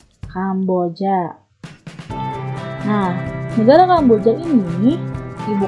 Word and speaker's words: Kamboja: Bacanya jangan Kampucha, Kamboja.